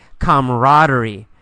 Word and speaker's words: camaraderie: You really don't pronounce that second A. We usually say camaraderie.